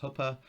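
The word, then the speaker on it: chuppah: So you've got what happens, the huppa, it looks like chuppa, but it's pronounced huppa.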